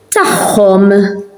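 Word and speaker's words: tagħhom: So when you have an ein and akka near each other, those pronounce as a h, because they are near each other. So mahom, with them, tahom, theirs.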